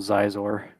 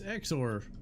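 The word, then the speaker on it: Xizor: There's a big one that they released with Prince Shizor, even though I used to call him Zizor. That's better than what I said. Exor. Exor. So, yeah, it's Exor. Just pronounce it X.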